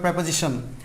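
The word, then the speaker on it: preposition: Number 5, প্রেপোজিশন, প্রেপোজিশন উচ্চারণটা হবে প্রেপোজিশন, প্রেপোজিশন ও determiner, এগুলো আপনি করে আসছেন, এখন আমি এটা বলতে পারবো না।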